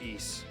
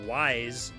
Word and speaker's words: Ys: Ys, it's spelled capital Y, lowercase s. And I'm 95% sure it's pronounced Ys. I think growing up, I was like, I'd seen it, I was like, wise? What the hell is wise? Yeah, that's what I'm playing right now is Ys 10.